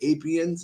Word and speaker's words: Apiens: It's like Apians. It's spelled APIENS.